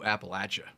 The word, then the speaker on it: Appalachia: it was huge it really went all through Appalachia did and that's how you say it by